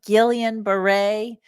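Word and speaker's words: Guillain-Barré: today we're talking about Gillian Beret which is spelled differently than how it's pronounced for some reason this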